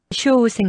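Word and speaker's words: 処方箋: 쇼우생 나시대. 카에마스까? 쇼우생은 처방전. 한국어 처방전이랑 발음 비슷.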